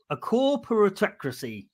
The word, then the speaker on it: corporatocracy: Is the government a corporate, how do you say this word? A corporatocracy. Is that right? Corporatocracy. Right.